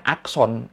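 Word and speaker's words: อักษร: Jadi keseluruhan kata ini dibacanya akson, R-nya sebenarnya nggak dibaca.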